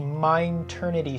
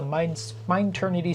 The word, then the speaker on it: Mineternity: We are going to be calling ourselves the Mineternity server. So it's spelled M-I-N-E Eternity, so like mine and eternity put together, because we wanted something